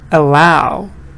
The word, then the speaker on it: allow: Allow, allow. Answer. No. Why allow, sweet? Yes, Ali, good. Answer. Because allow stresses on the second part.